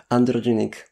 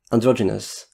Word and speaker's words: androgynous: How do you say this word? Androgenic. Androgenic. Androgynous. Androgynous? Or androgynous or androgenic? Androgynous.